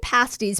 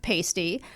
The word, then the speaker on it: pasties: Michigan pasties, pronounced pasti, rhyming with nasty, not pasty, are handheld savory meat pies.